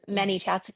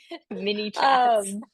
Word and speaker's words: ManyChat: to your mind was ManyChat. By the way guys, it's m a n y for a long time I thought it was mini like small m i n i.